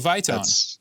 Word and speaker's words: Vitone: Is it Vitone? That's absolutely perfect.